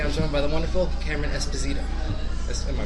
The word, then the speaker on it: Cameron Esposito: Today I'm joined by the wonderful Cameron Esposito. Am I pronouncing that right?